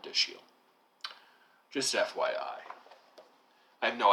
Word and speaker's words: Dashiell: the United States, and that it's pronounced more of the way it looks, not Dashel, but Dashiell.